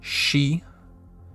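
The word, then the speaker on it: し: then we have our first exception which is she spelled in romanji s-h-i she and it looks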